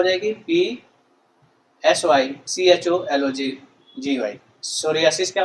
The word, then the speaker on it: psoriasis: तो साइकोलॉजी की स्पेलिंग क्या हो जाएगी? PSYCHOLOGY। सोरियासिस क्या हो जाएगा?